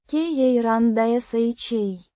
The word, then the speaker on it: карандаша: Pronounced. ka-ran-dah-SHA. With the stress on the last syllable.